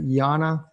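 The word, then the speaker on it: Jana: My wife has Substack at her maiden name at Yana. That's spelled with a J and is S U T O O V A.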